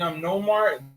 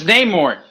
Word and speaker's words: Namor: It's Namor. Pronounce the names right.